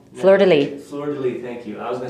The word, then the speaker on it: fleur-de-lis: to be french i always say it wrong fleur-de-lis thank you i was going to say florida line because uh florida line i think i don't